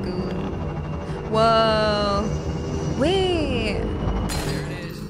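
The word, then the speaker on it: Ghoulia: Guglia. However, I spell it G-H-O-U-L-I-A. Like Guglia.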